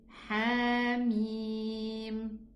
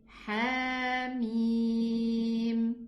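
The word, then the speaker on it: حم: We say Hamim. So we omitted the Hamza of the letter Ha.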